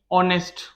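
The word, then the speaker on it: honest: Second sentence और ले लेते हैं, रोहित इज ऑनेस्ट। ठीक है, ये दो सेंटेंस है, इसमें एच साइलेंट है।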